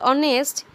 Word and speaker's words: honest: When you pronounce hour or honest, you don't say hour or honest. You say something that starts with vowel sound.